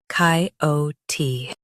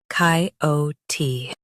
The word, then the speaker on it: coyote: shown on the screen, COYOTE. Both US and UK have the same pronunciation of this word, COYOTE. Now read the syllables shown on the screen naturally. COYOTE, COYOTE. Stress O and keep T clear.